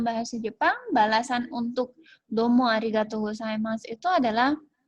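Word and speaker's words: ありがとうございます: salam lainnya yang ibu hamil di sini adalah pengucapan kata terima kasih terima kasih itu bahasa Jepangnya hadiqatul saima Arigatou Gozaimasu yang mengatakan Terima kasih ini kepada orang atau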